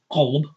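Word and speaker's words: قلب: The one that's pronounced qalb, qalb, qalb, is the heart.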